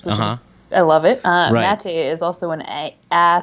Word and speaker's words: Maté: excellent and perfect which I love it uh matate is also an a a sounding a hey